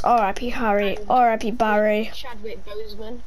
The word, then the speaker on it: Boseman: Just say Chadwick Boseman. Like a bow. Boseman.